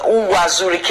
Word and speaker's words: Uwazurike: Okay, so what is your relationship with Ralph Uwazurike? I don't know if I pronounce it. Uwazurike, yes, that's his name.